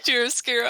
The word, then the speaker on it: chiaroscuro: oh, gosh dang it, I looked up how to pronounce this gosh Do darn... you want help? Please! Chiaroscuro.